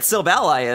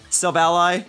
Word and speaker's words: Silvally: I don't know what type that Silvally is. And yes, before anyone comments, it is pronounced Silvally and not Silvally. I thought it was Silvally for the longest time.